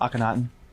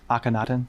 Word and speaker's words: Akhenaten: Max Aenatan. Pronounce it again. Aenatan.